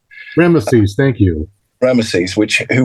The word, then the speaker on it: Rameses: listening to this okay so it's it's actually pronounced rameses rameses thank you rameses which who was a um